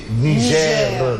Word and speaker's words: Niger: est il sont même quand vous nous dites Niger nigère le r là sinon Isma va vous porter plainte à la place de nigère il vous portera PL